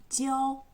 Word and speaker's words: 教: Y se pronuncia 教 bueno, en él veis que tenemos la piedad filial a la izquierda y a la derecha una mano con un palo.